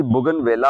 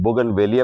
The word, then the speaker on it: Bougainvillea: इसको कहते हैं जी बुगनवेला, जिस तरह आप क्लोजअप में देख रहे हैं इतने खूबसूरत फूल हैं, बुगनवेलिया भी बोलते हैं, बुगनवेला भी बोलते हैं, जो भी इसको आप प्रोनाउंस करना चाहें या लोकल नेम आपका